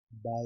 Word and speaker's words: ب: Ba is pronounced by joining both the lips, upper lips and lower lips, and by having some stress, by pressing, by having stress on both the lips.